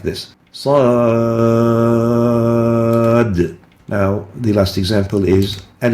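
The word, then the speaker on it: ص: Sad at the beginning of the surah is pronounced as if there are 3 letters. Sad, alif, dal, sad.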